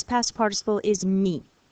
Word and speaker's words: mis: Mettre, the verb to put or to place or to put on, its past participle is mis. It's pronounced mi.